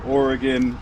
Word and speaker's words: Oregon: And you can't use service entrance cable in California or Oregon or Washington.